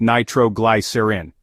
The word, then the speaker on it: nitroglycerin: insulin masking hypoglycemia symptoms nitroglycerin or nitrostat is pronounced nitroglycerin it is a vasodilator used for Angina which